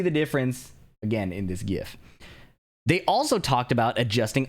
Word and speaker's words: GIF: So you can see in this GIF, which is the correct way to pronounce that by the way, that they have